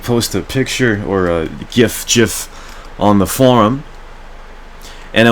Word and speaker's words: GIF: Attention, it's pronounced GIF.